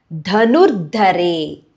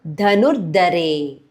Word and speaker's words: Dhanurdhare: Katyayani Mahamaye Khadga kha stress Bana N capital tongue tip passage upper palate Dhanurdhare both the dha stress Khadga Bana Dhanurdhare Khadga Dharini kha stress dha stress N capital Chandi Durga Devi Namostute.